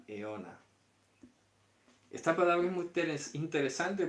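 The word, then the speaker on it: αἰῶνα: Se pronuncia eona.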